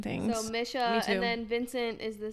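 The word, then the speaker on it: Mische: he has a good friend whose name is Misha Misha m Misha Misha would have never gotten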